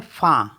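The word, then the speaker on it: fin: है wine F आई एन इसको पढ़ते हैं फा फा मेंस होता है एंड सी आई एन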